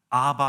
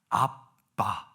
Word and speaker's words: 아빠: 대한민국 이 한글이 가장 원어적인 발음에 가깝다고. 아빠, 아바 no, 아빠.